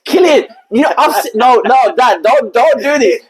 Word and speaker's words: Cillian: It's Killian.